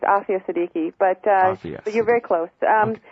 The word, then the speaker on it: Aafia Siddiqui: It's Aafia Siddiqui, but you're very close.